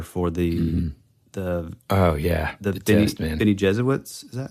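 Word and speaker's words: Bene Gesserit: the Reverend mother for the the oh yeah Ben Jesuit is that how you say it Benny jerit jeser that's right okay cool and I forget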